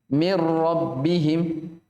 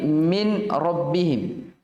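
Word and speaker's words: من ربهم: langsung langsung masuk dirol mirrobbihim dia Jadi bukan lagi min rabbihim bukan Min rabbihim tapi apa mirror jadi seakan non disitu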